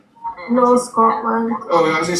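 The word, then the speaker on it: Knorr: The Australians, they don't say the word no, they say nor. Nor. That's all I heard when I was dating this one Australian girl. She's like, nor. I'm like, it's not nor, it's no.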